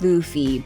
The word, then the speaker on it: Luffy: We know it's pronounced Luffy, but it's a meme video, so what did you guys expect?